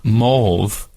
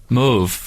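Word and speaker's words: mauve: originally said no CU for years I called it morv and didn't know that it was pronounced Mo but I have lots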